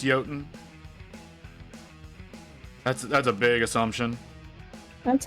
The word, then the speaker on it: Jotun: Yes, I did. You pronounced it like a filthy American.